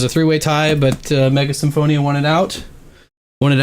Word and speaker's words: Symphonia: Uh Mega Symphonia or Mega Shimonia, uh if you want to use the Katakana pronunciation there.